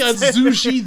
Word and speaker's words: Zouge: Yeah, no, it's Zouge the Bat. Like, come on. It's Rouge but with a Z in front, like Sonic.